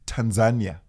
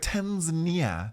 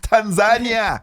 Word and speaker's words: Tanzania: Swahili and Kenya right so I say it's Tanzania yeah exactly exactly that sounds like a lot of lasagna yes America's like Tanzania no Tanzania we put the emphasis on the wrong exactly Tanzania okay that